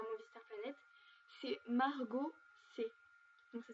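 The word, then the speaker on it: Maraux C: C'est Margot C. Donc ça s'écrit M-A-R-A-U-X espace C.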